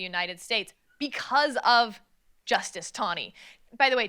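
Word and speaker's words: Taney: States because of Justice tnie by the way T NE y uh for you undergrads I pronounced it Tanny for like a real long time so I'm just going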